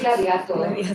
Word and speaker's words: gladiator: Bueno, y por favor, gladiator, pronunciad a la latina, no lo pronunciéis en inglés, decid gladiator, para esa película, que gladiator.